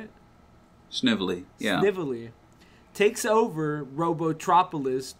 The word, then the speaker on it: Snively: Sniffly? Is that how you say it? Snively, yeah.